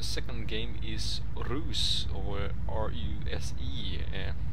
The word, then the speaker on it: RUSE: And the second game is Ruse, or R-U-S-E. It's spelled R.U.S.E, but I think it's pronounced Ruse.